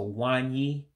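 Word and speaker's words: nwanyị: The NW, you basically are dropping that N. That's why you just hear me saying more of a W. And of course, you have that I diacritic again, so that gives an E.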